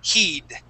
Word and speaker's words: heed: eat or deed, okay, this is a word when we can pronounce that long e sound. So we're going to say heed, heed.